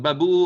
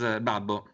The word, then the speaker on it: Babbo: But Babu or Babbo are funny, but the correct pronounce is Babbo.